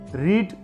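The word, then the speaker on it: read: जरी रेड म्हटलं वाचताना तरी स्पेलिंग मात्र तेच राहतं 3ही रूपांचं. मग रीडचं तिसरं रूप पहा, तेच आहे, फक्त याचा उच्चार रेड असा करायचा.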